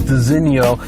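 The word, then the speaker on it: designo: mention first of all this is pronounced designio but uh there's this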